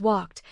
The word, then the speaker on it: walked: After a voiceless sound, except T, the written ED is pronounced as T. Walk becomes walked with K followed by T. Cook becomes cooked with the same short ending. Both words stay one syllable.